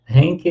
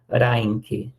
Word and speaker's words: Henke: Henke, eu falo Henke, mas na verdade a pronúncia é Reinke, tá? A pronúncia, né, no alemão é Reinke.